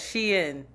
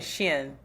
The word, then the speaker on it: Shein: First of all, it's Shein. Stop saying Shin. Don't be racist. Say it like an American.